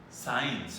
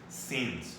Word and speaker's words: since: Don't say science. I guess that you say science. No, it's since, okay? Since and for. That's the proper pronunciation of this one, right?